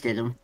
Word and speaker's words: Stidham: Jarrett Stidham, I still don't even really know how to pronounce it. Stidham. You're right. You're right. It's Stidham.